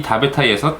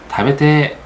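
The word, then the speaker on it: 食べたい: 이 다베타이에서 타이 이 부분을 테로 발음하는 경우가 있어요. 특히 남성들이 많이 쓰는데, 예를 들어서 다베타이, 이거를 다베테, 이런 식으로 얘기를 한다는 거예요.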